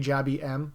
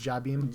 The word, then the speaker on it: Jabby M: I think it's actually Jabby M, but in my head it's Jabim. Yeah. Every commentator was saying it a little bit different. I was like, oh, that's how you say it? I've just been saying jab him the whole time.